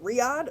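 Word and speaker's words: Riyadh: Riyad or I don't know how to pronounce it. Riad.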